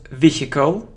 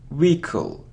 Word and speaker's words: vehicle: we pronounce this word it isn't vehicle or vehicle no it's vehicle Rico so we don't pronounce age wicka-wicka-wicka-wicka look it isn't